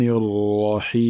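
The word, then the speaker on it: الرحيم: Donc voyons maintenant la bonne prononciation de ce verset, ainsi que des erreurs récurrentes à éviter. Ar-Rahman Ar-Rahim.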